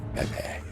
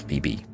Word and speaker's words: Phoebe: of Fe this is Grand Temple of febe that's how it's pronounced not Phoebe or phe he was the best